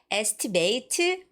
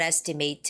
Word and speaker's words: estimate: And lastly, the word estimate. No, it's not estimate. It's estimate. Estimate.